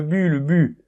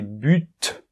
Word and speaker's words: but: Hey Pierre, c'est le but » ou le bout. Non, attention, c'est but. On prononce le T, d'accord? Bien, c'est un peu une exception. Ok, donc pourquoi j'ai commencé par le but et je l'ai souligné?